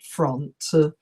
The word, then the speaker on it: front: example okay and finally the seventh mistake is to pronounce the O in front you should say front and not front okay so if you